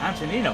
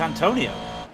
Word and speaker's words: Antonino: think samarko no no his first name antonino yeah antonino i thought it was antonio have you ever been